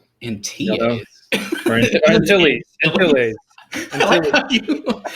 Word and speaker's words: Antilles: Remember Wedge in TAs? In TAs? Or in Antilles.